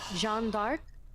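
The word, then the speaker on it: Jeanne d'Arc: So, this is actually supposed to be a representation of Jon of Arc, Jean Dark. If you know, you know that's the pronunciation in French.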